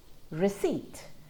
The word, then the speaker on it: receipt: we got psychologists co receipt we don't hear that p at all absolutely not at the start in the middle or at the end of the word so that's the silent